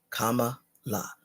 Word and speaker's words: Kamala: know say it properly um comma is the first part the last part is as you're singing La comma La let's all be clear